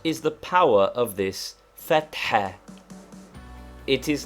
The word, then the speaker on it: fatha: Fatha, to be pronounced with a roughly aspirated ha, which we have indicated